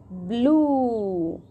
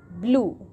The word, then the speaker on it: blue: Blue. Kids, in this word, E vowel is silent. It means we will not pronounce it. Okay? So, once more, spell it. B L blur U blue B L U E